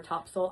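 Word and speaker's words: Topsail: tourism um partner for Topsole Island. It's spelled Top Sale Island.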